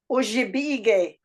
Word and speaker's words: Ojibwe: Okay, I'm looking at like what you said about Ojibwe, or the way it's pronounced here is Ojibwe.